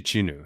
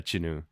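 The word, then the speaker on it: Jinu: It's It's actually Chinu. So, yeah, we've been saying it wrong, but yeah, Chinu.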